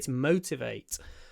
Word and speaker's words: motivate: lack motivation to study so to motivate on the first syllable motivate remember to put a w in that Mo w w w motivate but motivation motivation on the a motivate on the mo motivation on the a motivate motivation M motivate motivation motivation